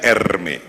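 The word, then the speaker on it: Hermès: ada merek Hai namanya Hermes bacanya Ermi yang sangat dicintai oleh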